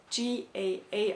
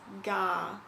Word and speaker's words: GAA: Gallic Athletic Association you'll see it abbreviated as G a a a lot which is how I thought it would be pronounced but apparently pronounce this gah which I still feel like I'm saying wrong